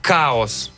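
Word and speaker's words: Kaos: Ну, пишется, я так понимаю, как «Хаос», «Чаос». «Хаос» называется. «Хаос», да. Но именно «Каос». Ну, он... потому что пишется, нет разве? Не-не-не, русскими буквами прям.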